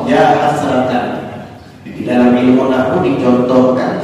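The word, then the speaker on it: يا حسرةً: Hasratan itu nakirah ghairah maqsudah, sehingga dibaca nasab ya hasratan.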